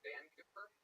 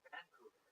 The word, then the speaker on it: Vancouver: Tony, where's Vancouver? What? Where's Vancouver? Vancouver, but never Vancouver. What have you heard of? Vancouver. What did I say? Vancouver. Put the wrong on the wrong syllable.